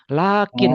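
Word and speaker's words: لكن: Alifnya dibuang dalam penulisan, tetapi secara pengucapan harus tetap dipanjangkan. Jadi, lakin walaupun ditulisnya tidak menggunakan alif tegak, tetapi pengucapannya harus tetap panjang.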